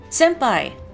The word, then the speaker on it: senpai: you've all heard is senpai again it uses that um uh Kana if you're writing it in romaji or in sorry in Kana but it's sem it's more of an M sound Senpai I don't know